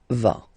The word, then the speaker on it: vas: Same thing here, final S not pronounced. Tu vas.